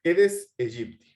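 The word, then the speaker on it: Aedes aegypti: es el eres Egipto se escribe aedes a Egipto que se pronuncia eres Egipto qué tiene este mosquito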